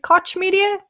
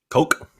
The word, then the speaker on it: Koch Media: Is it Koch Media? Coke. Koch Media? Yeah, I mean, there are different pronunciations depending on where you are in the world, but Koch Media is June 11th, 12 p.m.